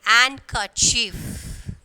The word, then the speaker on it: handkerchief: So D is silent, and then handkerchief. And kerchief. So here D, and then sandwich. So when we are pronouncing the word, the D is silent.